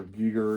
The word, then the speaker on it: Giger: It's pronounced Giger, not I always Geiger. thought it was HR Giger.